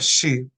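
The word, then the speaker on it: 씨: is sh sh two if it is pronounced shi a Korean and and it is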